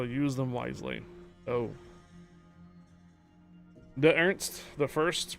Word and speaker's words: Ernst: De Ernst, the first pronunciation like de Ernst. No unch sound at the end.